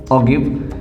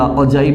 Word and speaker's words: ogive: और दूसरा टॉपिक आपका था ऑगिव या अजाइब भी हम इसको प्रोनाउंस करते हैं।